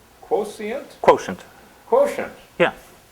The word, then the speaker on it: QoSient: Quotient. Quotient. Yeah. You pronounce it quotient even though it's an S rather than a T.